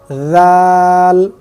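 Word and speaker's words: ذال: খ দাল জাল জাল বলার ক্ষেত্রে আমরা যেটা খেয়াল করব সেটা হচ্ছে জিহ্বার আগা সামনের উপরের দুই দাঁতের আগার সাথে লাগিয়ে জাল উচ্চারণ হবে তাহলে জাল জাল ঠিক এভাবে তারপরে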